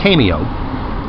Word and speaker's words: CAIMEO: to this cameo the the Irish pronunciation for cameo and also an Italian location spell CAI a mio cameo artificial intelligence that can